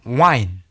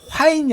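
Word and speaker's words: whine: 자, 29번은 이건 발음이면 어떻게 되냐면요. 와인. 와인입니다. 화인이 아니라 와인이에요. 와인.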